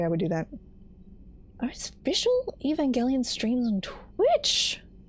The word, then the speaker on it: Evangelion: Oh, so it's a Japanese title, so that's the proper noun with a hard G. Okay, gotcha. So Evangelion.